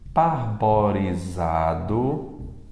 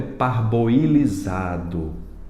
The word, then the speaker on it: parboilizado: caiu na cercred ultimamente parborizado Como é o correto parboilizado parboilizado posso pensar também no